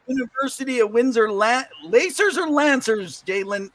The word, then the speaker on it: Lancers: She played for the University of Windsor Lacers or Lancers, Jaydlin? How do you say it? Lancers. It's just like you lance the tumor.